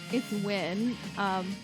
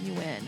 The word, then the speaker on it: Nguyen: Like, I went to school with a bunch of Vietnamese people, they all pronounce it Nguyen. And I was like, no bitch, it's win.